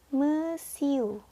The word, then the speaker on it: monsieur: Ya, yang pertama dibacanya monsieur. Monsieur.